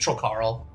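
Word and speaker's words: Trollkarl: troll Carl troll Carl yes but less of a pause it's just troll Carl yeah that's our that's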